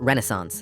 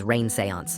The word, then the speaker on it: Renaissance: But when I asked what period she had him, she changed the subject to how Hawkins always pronounced Renaissance as rain-sayance.